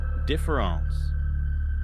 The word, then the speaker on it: différance: This leads us to Dareda's most famous and difficult concept, difference. Note that I pronounce it the same, but he writes it with the letter A instead of an E.